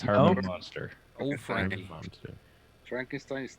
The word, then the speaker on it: Munster: I bet Yamo knows who Herman Monster is. Why you got Well, it's Herman Munster Monster? is who it is. Herman Munster. Munster, yep, with a U.